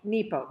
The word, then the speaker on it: Nepo: every single day Mark Nero was uh was fighting cancer when he wrote this and it's beautiful so nepo Mark nepo did I say it wrong I said Nemo Finding Nemo I'll just